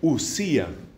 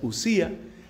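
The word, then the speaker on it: οὐσία: substancia mientras que sustancia en griego se dice ussía que se escribe con con el diptongo o omicron épsilon omicron épsilon o si a la uci us pronuncia ussía es la sustancia es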